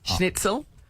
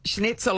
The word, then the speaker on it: Schnitzel: Schnitzel.